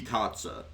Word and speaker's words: Katze: So to say like the cat in German, it's die Katze. Like you just add the word Z to the end of cat and that's how you say it in German, right?